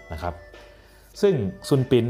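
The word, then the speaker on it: Sun Bin: ว่า ส่วน ปิ่น ครับ ภาษา อังกฤษ จะ เขียน ว่า s u n b i n นะ ครับ แต่ ว่า ออก เสียง ว่า ซุนปิน นะ ครับ เพราะ ว่า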